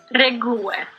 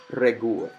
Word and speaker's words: regułę: Okay, so, but now how do I properly pronounce it? That's the real question. Wyjątek. Wyjątek. Potwierdza. Popierdza. Regułę. Regułę.